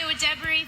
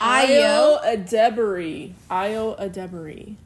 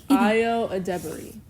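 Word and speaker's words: Ayo Edebiri: Hi, Io Debris, 5'6.5". Io Adebari. That's her name. Oh my god. Io Adebari. That's how you pronounce it.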